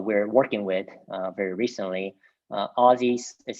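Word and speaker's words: Ozys: been newer um i guess crypto projects and aussies is another one that we've partnered with uh very recently um the you know i wouldn't say partnership that we're working with very recently aussies is spelled o z y s there they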